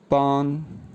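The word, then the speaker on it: 班: BAN first sound के साथ pronounce होगा पान पान पान।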